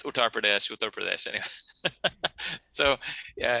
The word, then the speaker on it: Uttar Pradesh: and you know he and he uh he pronounces it differently every time it's uttar pradesh anyway so yeah it's the country of author